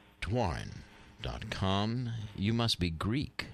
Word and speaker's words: Doiron: It's PAULDOIRON, pronounced Dwarren.